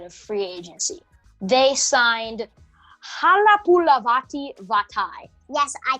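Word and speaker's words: Halapoulivaati Vaitai: On the offensive side of free agency, they signed Halapulavati Vatai. Yes, I pronounced that correctly.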